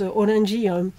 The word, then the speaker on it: Orange: Ça s'écrit Orange, mais ça se prononce Orangi en japonais.